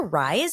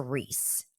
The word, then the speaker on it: Rhys: And I think that, it's pronounced Reese.